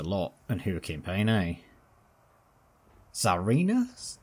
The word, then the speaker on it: Tsarina: Tsarina? Because the T's silent, right? I think, from memory.